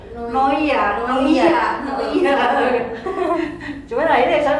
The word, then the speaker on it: Noia: dan emang maksudnya Eh orang pun kadang eh ngucap Noya karena dipikirnya i itu kan bukan jadi bukan dibaca i ya Noya iya i cuma akirnya